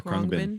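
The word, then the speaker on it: Khruangbin: How do you say it? Yeah, right. Kurangbin? Oh yeah, Krungbin.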